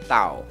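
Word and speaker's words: เต่า: Ini adalah tau, ya. Total secara ao my egg ya, jadi siang egg dibaca tau tau ya.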